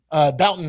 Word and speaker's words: Bouton: Bouton, that's how you say his name.